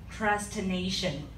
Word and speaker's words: procrastination: It's kind of hard to pronounce it, but you can sing as procrastination, just separate the word with P-R-O and procrastination. Think as of being a pro at procrastination. That will be easier to pronounce the word.